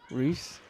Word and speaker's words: Ruiz: It's pronounced Reese.